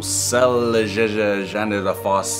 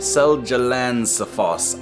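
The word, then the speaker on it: Seljalandsfoss: good we're chilling what do we got whoa salazar finland wait guys uh how do you pronounce that seljalandsafoss iceland okay guys i'm going to iceland is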